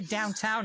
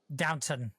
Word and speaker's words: Downton Abbey: I guess we watched Downton Abbey. Okay, never mind. I was like, why would you... Never mind. Okay. I'm sorry, did you just say Downtown Abbey? Isn't that what it's called? Downton. Not downtown.